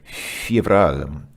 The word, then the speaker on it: феврале: And here again, if you listen to how he pronounces in February, it's like fevral. It's kind of funny. He says a very long F, because it's basically two Fs just kind of merged together.